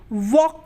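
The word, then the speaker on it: walk: रहा है इसलिए यहां पर एल क्या है साइलेंट है यानी की वो नहीं बोला जा रहा हम क्या बोलते हैं वॉक बोलते हैं हम वॉक तो नहीं बोलते क्या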